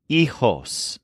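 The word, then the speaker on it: hijos: at least one child the word for children in Spanish is eos spelled h i j oos with a silent h EOS this word specifically means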